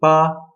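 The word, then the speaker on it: 八: this gun makes in China number eight is ba so if you're saying it right it should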